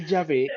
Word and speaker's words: Yahvé: Nosotros estamos mencionando Yahvé en vez de Jehová, porque Yahvé es la pronunciación más exacta al original hebreo.